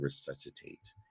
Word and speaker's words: resuscitate: stands for resuscitate and the sc in resuscitate does not sound like skit all right that's c because it's followed by an i that is going to be a soft c all right so that's a rule you need to know about c it's gonna it sounds like it's uh should be spelled with an s so you just add